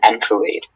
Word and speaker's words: enfilade: The general scattered his troops in an enfilade. Okay. And can I have the word? Can I have the alternate pronunciations, please?